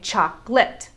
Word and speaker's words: chocolate: at the word chocolate we could say chocolate the way that it's spelled or as we americans normally do we say chocolate we cut out the schwa sounds in the middle and now it's only two syllables chocolate let's take a